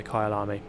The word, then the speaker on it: Kyalami: Kyalami.